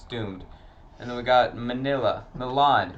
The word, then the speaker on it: Milan: And then we got Milan, Don't not say it like Manila.